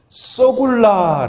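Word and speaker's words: סגולה: 히브리어 로 소유 를 뜻 하는 이 단어는 ' 세굴라 ' 라고 합니다 . 모두 함께 ' 세굴라 ' 라고 외쳐 보세요 . 세 굴라 . 세 굴라 . 세 굴라 . 이 단어 를 잘못 발음 하면 ' 썩은 남자 ', ' 썩은 남자 ' , ' 썩은 남자 ', ' 썩은 남자 ' 처럼 들릴 수 있습니다 .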